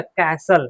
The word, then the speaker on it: castle: ठीक है, for example CASTLE, तो STE है तो CASTLE में क्या हो जाएगा, कैसल। क्या हो जाएगा, देखिए ऐसे, T silent, कैसल, CASLE, कैसल। तो टी यहाँ पे क्या है, साइलेंट है, इसका मतलब किला होता है।